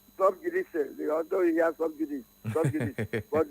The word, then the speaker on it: sub judice: Sub judice, although he has sub judice, but the thing is pronounced Sub judice. S-A-I.